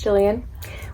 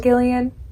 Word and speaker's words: Gillian: My name is Jillian with a G, but pronounced like it is with a J, not Gillian.